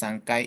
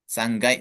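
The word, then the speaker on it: 三階: Ikai, nikai, sangkai gitu ya. Sanggai, sorry.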